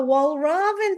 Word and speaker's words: Walraven: It's good morning Wal Raven.